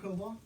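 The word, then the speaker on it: Cobaugh: My name is Cobalt.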